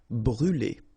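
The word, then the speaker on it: brûle: y ble all right so remember to write this circumlex on the top of but then you don't pronounce it so phonetically doesn't exist and it's brule All right.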